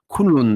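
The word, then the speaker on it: Kunlun: se trouve à l'extrémité ouest des montagnes kunloun kunon donc ça s'écrit K u n l u n pour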